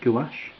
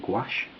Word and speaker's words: gouache: I use white watercolour and sometimes gouache, or gouache, depends how you pronounce it.